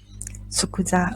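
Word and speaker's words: 即座: number 29 is finance s oh sorry okay number 29 is pronounced as sokudza okay means immediately immediately okay it has nothing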